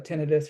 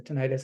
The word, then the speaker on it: tinnitus: a mention of it helping to control uh tinnitus or tinnitus however you want to pronounce it hyperacusis ear pain inner ear pressure